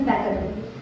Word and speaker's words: Becquerel: Becquerel. Absolutely right. The pronunciation is Becquerel.